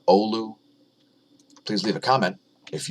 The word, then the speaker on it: Oulu: Finland thanks again for teaching me how to pronounce the word Oh Lu please leave a comment